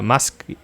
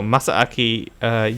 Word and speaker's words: Masaaki: have bloodborne producer uh musk no no masaaki masaki the double a throws me off so i think there's also a supposed to be an emphasis on the second a so masaaki yamagiwa joins team ninja